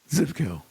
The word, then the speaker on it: Zivko: Now, am I pronouncing your name correctly? That's right. Zipco, which of course is Macedonian.